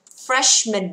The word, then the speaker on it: freshman: Freshman, các bạn được chưa ạ? Ok chưa? Không đọc là freshman đâu nha, rõ ràng là M-A-N nhưng không đọc là man mà đọc là mình thôi.